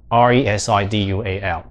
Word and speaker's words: residual: 那正确呢，应该怎么念？来帮大家呢，这个念一下，叫做 residual 这个 si 是有点 z 是 z，然后后面这